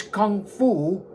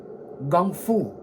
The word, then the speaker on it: gung fu: unheard of in Chinese kung fu, or as my father pronounced it in its native, Cantonese, gung fu.